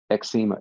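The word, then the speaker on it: Xeoma: myself it's called x i'm going to pronounce it exema x e o m a all right and it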